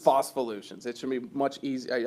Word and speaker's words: Phospholutions: How do you pronounce it properly? Fossvolutions. Fossvolutions.